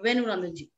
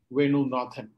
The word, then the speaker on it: Venu Nathan: Venu Nandanji? Thank you, Azra Sultana. Venu Nathan. Simply, only that. Venu Nathan. difficult to pronounce. Venu Nathan. That's my name.